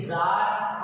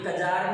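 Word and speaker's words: czar: ऐसे जार और जरीना, ये कजार नहीं है, यहाँ पर सी साइलेंट है।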